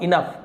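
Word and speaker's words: enough: इनफ इसे और इनोग विनोग नहीं पढ़ना है। इसे हम क्या पढ़ेंगे? इनफ इनफ।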